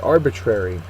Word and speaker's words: arbitrary: Our next word, arbitrary. It's an adjective. First syllable is accented, and it means based on one's wishes or whims without regard for reason or fairness.